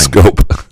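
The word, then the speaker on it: Skubal: 3, the Tigers should shop Scoop at the deadline. Scoop. It's Scoop. Well, he does misspell his name.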